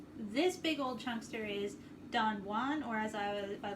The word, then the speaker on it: Don Juan: big old chunkster is don juan or as i was by lord byron or as apparently lord byron pronounced it according to my college english class don juan this is an epic